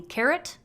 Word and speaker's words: caret: That's the little guy on the 6 key called the caret, not like the vegetable.